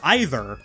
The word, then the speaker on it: either: I say either, but Elias says either.